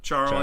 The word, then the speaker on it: Charl: works yeah Louie uh Carl schwarzel charl Char almost like Charro but charl yeah another South African